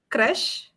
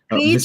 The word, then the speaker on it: Krish: So, For those watching, would you like to tell what the correct pronunciation is as Yeah, well? it is Krish, It is not correct.